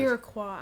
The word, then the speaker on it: Iroquois: The colonists have no quarrel with the Iroquois. Not yet. Iroquois, I'm sorry. But they I've been will. saying it wrong.